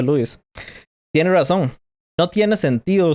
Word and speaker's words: Lewis: Así que Lewis, a veces le digo Lewis, pero se pronuncia Lewis, tiene razón.